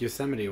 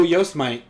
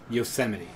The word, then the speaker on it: Yosemite: living with no ropes I always mispronounce Yosemite when I read it you know somebody I always go yo smite and I'm always I